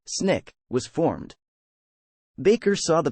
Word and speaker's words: SNCC: meeting the student non-violent Coordinating Committee SNCC pronounced Snick was formed Baker saw